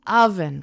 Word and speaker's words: oven: Now, decimos oven con a. Pero realmente se escribe con o. O V E N. Oven, pero decimos oven.